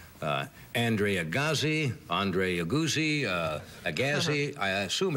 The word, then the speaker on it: Agassi: I heard guys say Andre Agassi, Andre Agassi, Agassi. I assume it's Andre Agassi, right? Agassi. Agassi.